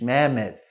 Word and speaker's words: mammoth: Make sure you get that TH, mammoth.